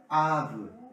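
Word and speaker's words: אב: Y se pronuncia Ab.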